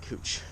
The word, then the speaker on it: Couch: Yes, it's called Cooch Street. So get all the dirty jokes out of your head right now. It's spelled couch, but it's named after a person who pronounced it Cooch.